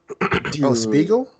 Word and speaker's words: Spiegel: the english name the shadow gundam yeah was spiegel so that's how you pronounce it yeah okay it's spelled almost exactly